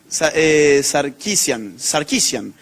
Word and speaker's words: Sarkeesian: ¿Alguien sabe cómo se pronuncia bien? Sarkeesian. Anita Sarkeesian.